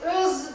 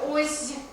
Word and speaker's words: öz: Yani öz değil de oz, asıl biraz sağırlaştırıp oz degen telaffuz da var.